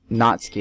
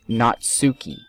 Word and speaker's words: Natsuki: And, see, I remember BJ Mike pronounces it not Natsuki, it's Natsuki. If you're anything into anime, you know that how it's pronounced.